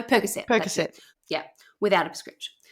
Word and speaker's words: Percocet: So what they find is marijuana, and she also had Vicodin and how do you say it? Percocet? No, Percocet.